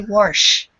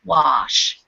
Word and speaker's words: wash: an r in there they say worsh that's what it sounds like to me and in North America we tend to say wash with a very wide open mouth and no R sound at all wash both are correct don't